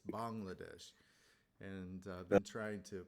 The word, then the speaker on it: Bangladesh: that correctly Sak it's it's not Bangladesh it's Bangladesh and I've been trying